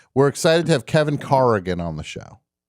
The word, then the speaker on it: Corrigan: new york it's kevin corrigan the actor the great actor kevin corrigan actually carrigan i let it slide a lot but i think people should know okay that the real pronunciation is car again fair enough i only